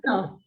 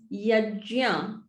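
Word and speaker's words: yajña: Yes, so that's yagna, or yeah. we say yagna. Yeah, so it's yajya. And I try and, So because I also have been brought up in the same environment with the same pronunciation, even for me to remember to say it like this sometimes gets difficult. And I've written, why is this jia and not gya?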